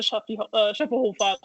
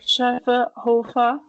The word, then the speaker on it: Schöfferhofer: There is no drinking around the world without the Schöfferhofer. Can you pronounce it again? Sorry. Schöfferhofer.